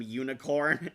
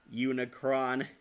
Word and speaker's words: Unicron: my parents called them Unicorn. Well, when they read the movie case, yeah, it looks like Unicorn. That's a common mistake. Even one of the dubs made that mistake. Unicron.